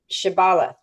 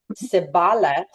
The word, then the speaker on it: shibboleth: If the man replied that he was not, then they demanded, say Shibboleth. But if he couldn't pronounce the H and said Sibboleth instead of Shibboleth, he was dragged away and killed.